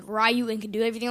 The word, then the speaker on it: Ryu: just like is it is it Rayu or Ryu? Ryu Ryu. I always said Rayu. Ryu is like a new thing to me. But maybe I've always said it wrong. I I think it's Ryu. I mean we watched that video on that website that YouTube site and like eight out of 10 people said Ryu and a couple said Rayu.